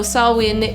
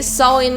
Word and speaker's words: Samhain: and yes as some of you may know saowin is the origin of our modern halloween let's get into that so originally sawin is a celtic celebration and actually in modern